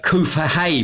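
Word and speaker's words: COOFHEA: which is called the uh koofa hay program yeah a bit of a wordings it's spelt c-o-o-f-h-e-a which has a budget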